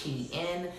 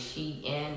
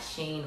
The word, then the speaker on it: SHEIN: as well if you didn't know it is pronounced she in the company actually put a meme up I'm